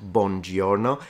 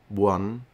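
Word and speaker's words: buono: a little thing on top bno yeah not Bono it's true yeah I noticed that a lot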